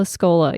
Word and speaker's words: Escola: Which does remind me, though, is I do really want to see Cole Escola's, is that how you pronounce his last name? Oh. Mary? Oh, yes. Cole Escola.